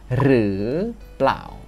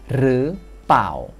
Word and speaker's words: หรือเปล่า: Ada kemungkinan Anda akan mendengar orang mengucapkannya sebagai "re plaw." Jadi, huruf "l" dalam "plaw" terdengar lembut. Huruf "l" tidak diucapkan, jadi hanya "paw."